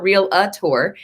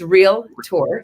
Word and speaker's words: Realtor: become a real tour which no offense but it's always a two syllable it's not real a tour it's real tour and real tour means